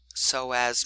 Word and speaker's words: Psoas: In fact, sometimes they are named together as the iliopsoas, so that P is silent, Psoas Major.